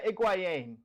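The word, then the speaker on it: Higuaín: yeah, Gonzalo Higuain. I think that's how you say it. Yeah, Iguain. Yeah, Iguain. It's like, yeah, it's Iguain.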